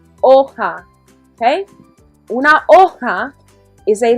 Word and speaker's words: hoja: Okay, the H is silent. Hoja.